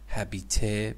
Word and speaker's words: habiter: In Latin, habiter, because in French H is not pronounced.